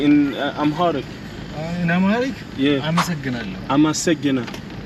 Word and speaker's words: አመሰግናለሁ: አመሰግናለሁ. አመሰግናለሁ.